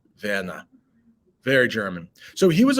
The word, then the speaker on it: Werner: So this is the proper German way to pronounce Mr. Dussel's son's name. Werner.